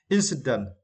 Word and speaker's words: incident: Yeah, for this word, we need to stress the first syllable in. Incident.